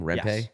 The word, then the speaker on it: Rempe: Rempe?